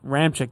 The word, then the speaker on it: Ramczyk: Ramczyk, thank you. Ryan Ramczyk from Wisconsin.